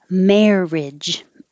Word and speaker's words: marriage: Carriage. Marriage. I put this because this is spelled with like a lot of vowels, but we only have airage. Carriage, marriage. This one, courage.